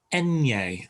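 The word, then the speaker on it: eñe: negro as in black there's also an enye which is an n with the little squiggle over the top um and that's pronounced enye and it's uh sound as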